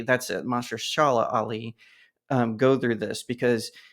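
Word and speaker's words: Mahershala Ali: sad to see especially a talented actor like Mahari Ali am I pronouncing that right Mas Shala Ali that's it Mash Shala ali um go through this because he wants blade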